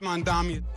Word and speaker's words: Mamdani: Mamdani. His critics said that he didn't have the right name. And Mamdani said it right? The name is Mamdani. M-A-M-D-A-N-I. You should learn how to say it because we got to get it right.